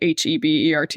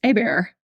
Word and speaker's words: Hébert: last name is spelled h e b ERT which people will see if they're listening to this but it looks like Hebert it looks like Hebert but it's pronounced a bear because it's French oh yeah because you're